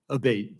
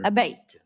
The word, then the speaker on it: Abate: I saying your name properly we've heard it pronounced three different ways today in the hearing aate Senator aate okay thank you um you had mentioned a